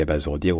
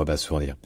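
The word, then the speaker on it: abasourdir: l'infinitif bien sûr c'est estce qu'on dit AB basourir ou Abas sourdir et en fait les deux existent et pour comprendre un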